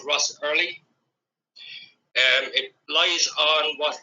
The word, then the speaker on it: Ross Errilly: Franciscan fiery and its uh name is called Russ early um it lies on what would be known